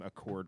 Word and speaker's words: Accord: name, so the name Accord was chosen. The local pronunciation of this word is with a flat A on the accent on the A, so Accord.